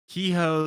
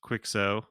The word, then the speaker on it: Quixo: The next one here is Kehoe the Adventurer, sometimes pronounced Quixo, uh, the Adventurer. Uh-huh. I've heard it both ways.